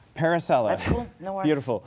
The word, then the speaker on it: Parisella: own businesses and my next guest is parisel did I pronounce it even half right parisella parisella that's cool no wor beautiful no wor